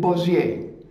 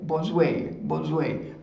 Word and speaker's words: Bossuet: It's written B-O-S-S-U-E-T, and we pronounce it Bosuet, Bosuet. That is the exact pronunciation, Bosuet.